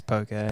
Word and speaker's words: poke: told that it was poker okay yeah so remember poke rhymes with Okay so Tim how do